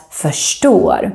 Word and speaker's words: förstår: If you want the Stockholm accent, like I have, then you will pronounce this word as förstår.